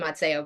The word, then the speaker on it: Mazzeo: I say Mazzeo, but I also it's I answered anything. We also pronounce our last name wrong. It's supposed to be Mazzeo, but so yeah, I say Dr.